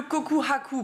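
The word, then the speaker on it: 告白: légitime sérieuse et cetera le coku Haku prononcé avec un H c'est donc une déclaration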